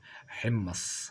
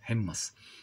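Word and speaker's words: حِمَّص: بنقول عليه الحمص يعني انما هو ينطق هكذا النطقيه بالفصحى حمص هكذا الحاء مكسوره والميم عليها شده وفتحه حمص بعد ذلك هنا نحل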